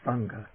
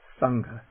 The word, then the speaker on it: saṅgha: monastic order is the sangha sangha that sangha but a little aspiration there sangha and then the nasal